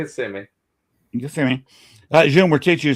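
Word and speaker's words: Kissimmee: It's spelled just like it, but it's it's kissmi.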